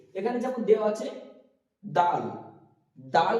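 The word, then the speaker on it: دال: এখানে যেমন দেওয়া আছে দাল, দাল বলার সময় আমরা উচ্চারিত করব যে জিভটা উপরের দাঁতের তলায় থাকবে, একটুখানি সামনের দিকটা দিয়ে উচ্চারিত হবে এটুকু দাল।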